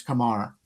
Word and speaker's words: Kumar: Uh and by the way, I've been pronouncing his name wrong all the time. It's not Kumar, it's Kumar.